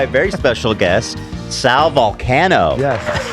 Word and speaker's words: Vulcano: You said Vulcano, which is the way that we pronounce it, but I say most people will say Vulcano, and I'm like, all right, I never correct anybody.